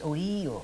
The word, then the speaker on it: Ohio: In fact, Ohio is an Iroquois word, only they, as usual, they don't pronounce it right. It's Ohio.